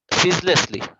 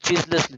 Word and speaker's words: ceaselessly: এটা হবে সিজলেসলি। উচ্চারণটা একটু খেয়াল করবা, সিজলেসলি। অনেক জায়গায় এটা উচ্চারণ চিজলেসলি দিয়ে, এর উচ্চারণ হবে জাস্ট সিজলেসলি।